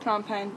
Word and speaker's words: Phnom Penh: way to Phnom Penh, which is pronounced Phnom Penh because I asked the border control people who are Cambodian.